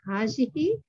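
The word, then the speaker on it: هذه: It is pronounced as hazihi, but the alif is omitted in writing. That is the alif after ha. Ha. So it's hazihi. This is a boy and this is a girl. Haza waladun wa hazihi bint. So there is a hidden alif between ha and zal. Okay. We pronounce that, but we don't write it.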